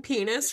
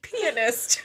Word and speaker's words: pianist: like no you said pianist but that's how that's the correct way to say it is pianist i know but i didn't hear the t at the end so just was like